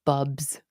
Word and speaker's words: bulbs: And Bill said bulbs down here in Kentucky, we call them bubs. The L is silent.